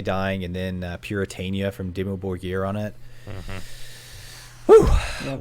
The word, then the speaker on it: Dimmu Borgir: Dimmu Borgir.